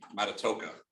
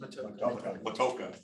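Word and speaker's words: Matoaka: And that was on Matatoka. Is that how I pronounce it? Matoka, okay.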